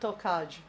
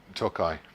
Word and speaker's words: Tokaj: the rest of that tokaj first toai toai it's the J is pronounced on I I made the